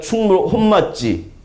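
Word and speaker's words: 本町: 왜 그러냐면 지금의 여기가 혼맛지 충무로예요. 본정이라고 이제 쓴 것을 혼맛지라고 읽는데 그 본정의 의미는 영어로 하면은 메인 스트릿이라는 의미죠.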